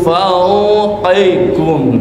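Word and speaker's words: فَوْقِكُمْ: Nah, huruf lin itu sekarang mau bersukun pakai u, bukan pakai o. Min fauqikum.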